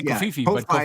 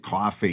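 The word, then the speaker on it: Ko-fi: called Co Kofi Co I say kofifi is one of the Ki I think you're supposed to pronounce it coffee you know buy me up a cup of coffee but oh right yeah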